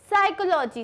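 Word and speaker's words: psychology: साइकोलॉजी. साइकोलॉजी की spelling होती है P से स्टार्ट होती है लेकिन उसमें P साइलेंट होता है.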